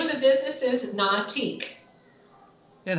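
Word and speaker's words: Na'atik: business so the name of the business is not ich and how do you spell that it's n a apostrophe a TI k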